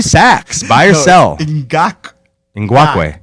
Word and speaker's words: Ngakoue: Ngakoue. Ngakoue. No, not like guac. Yeah. Ngakoue. Yeah, there you go. Ngakoue. Not guacamole, but Yeah.